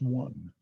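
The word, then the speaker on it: won: It's pronounced one.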